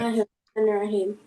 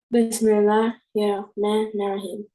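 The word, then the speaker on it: بسم الله الرحمن الرحيم: So when you say it, I want you to keep it separated like that and to pronounce it exactly like that.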